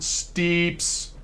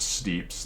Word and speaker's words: Steeps: I'll give you examples on this game on Steeps. That's how you say it. You definitely say it Steeps. That's how it's said.